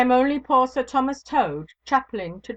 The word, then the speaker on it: Tode: "Ay me, Sir Thomas Tode." He pronounced the word as though it had been the name of the foul beast that squats on its belly.